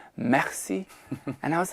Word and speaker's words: merci: would've said something like, "Merci" like that. And he goes, "Daddy." And I was like, "What?? He goes, "It's not merci. It's merci."